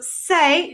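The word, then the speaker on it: c'est: it's 16.80 all right that first word in bold is pronounced just like say like if i re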